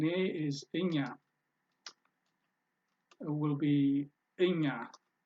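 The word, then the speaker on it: እኛ: India will be Inga you pronounce it like pina yeah is like as in español español in yeah it's not Agena or Enya the G and n blend together and give you the yuh sound that's how English works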